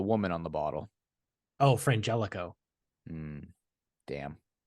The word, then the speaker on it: Frangelico: no with the woman on the bottle oh Frangelico damn not frano I didn't I you know I did hear